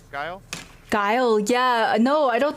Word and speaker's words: Guile: Is that the pronunciation? Guile?